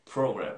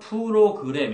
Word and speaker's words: program: Program. 어, computer. Computer. Program. Program. 우리는 어떻게 해요? 프로그램 이렇게 하지. 근데 서양인들은 어떻게 해요? 프로 여기에다가 강세를 주는 거예요.